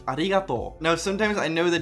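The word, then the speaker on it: ありがとう: Or in the word arigato, you prolong the to with an u. So it's not arigato, but arigato.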